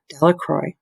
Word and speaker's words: Delacroix: jones and dickie delacroix the villagers pronounced this name delacroix eventually made a great